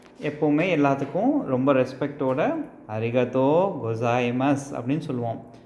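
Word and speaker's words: ございます: எல்லாத்துக்கும் ரொம்ப ரெஸ்பெக்டோட அரிகத்தோ கோசாய்மஸ் அப்படின்னு சொல்லுவோம். கோ ஜா இ மா சு, கோசாய்மஸ், ஓகேங்களா? இந்த சூவை வந்து கடைசியாக ஸ் அப்படின்னு ப்ரொனவுன்ஸ் பண்ணால் போதும், கோசாய்மஸ். மா சூவை வந்து மஸ் அப்படின்னு ப்ரொனவுன்ஸ் பண்ணால் போதும். ஸோ கோசா இ.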